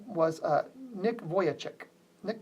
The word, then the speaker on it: Vujicic: his name was Nick Vujicic. Nick Vujicic. And by the way, if you want the spelling of that, it's Nick, N-I-C-K, V-U-J-I-C-I-C. It doesn't sound like at all what it's spelled.